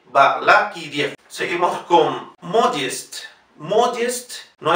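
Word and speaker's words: Balakirev: Balakiriev. Igual no digan Balakiriev con la V, sino Balakiriev y la E. No se olviden IE. Balakiriev.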